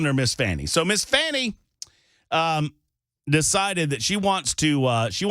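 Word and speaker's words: Fani: there have you seen where they're trying to pronounce their name differently now finay it was I it was funny it was funny it's Fanny stop trying to pretend it's not oh no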